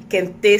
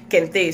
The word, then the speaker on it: Kente: I also called Kent style instead of Kente.